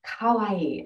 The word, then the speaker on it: kawaii: It's kawaii.